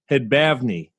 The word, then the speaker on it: Hadbavny: an honor to welcome to the show spencer hedbavny thank you so much mike for having me